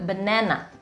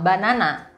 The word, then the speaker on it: banana: dalam bahasa Inggris disebut benana banana seringkali pengucapan yang Saya dengar adalah banana walaupun di situ ada huruf a tapi pronounciationnya sedikit berbeda benana bukan banana Oke benana pisang crack